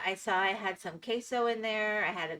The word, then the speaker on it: queso: I can't help but I hear queso instead of quaso. Yeah, queso. It is not quaso.